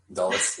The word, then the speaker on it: Dulles: So basically, what happened is the DC Dulles Airport. Is that how you pronounce it? Dulles, yeah.